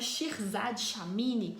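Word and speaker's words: Shirzad Chamine: o nome do autor é uma pegadinha nerd pronúncia chama shirzad shamni e nele tem uma uma ferramenta que se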